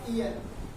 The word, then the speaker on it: heir: Question number next देखिए, the Prince William is अ, यहाँ पर लिखा है ईयर, यहाँ पे एक्स साइलेंट है, टू the throne of the great Britain.